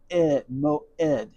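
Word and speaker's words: מועד: the tent intent mim now in this case the vav is not the v is not pronounced it's just carrying this o sound. Me oed. Moed. Here's that e sound. The hard e because of the aim and the dollar.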